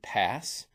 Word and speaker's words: PaaS: Now there's also P A some people just pronounce it pass platform as a service.